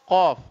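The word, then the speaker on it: ق: Di sana pakai huruf qaf. Qaf itu sama kaf itu beda sedikit makhrajnya. Kalau qaf pangkal lidah paling dalam. Kalau kaf ujung pangkal lidah agak keluar sedikit ke arah mulut.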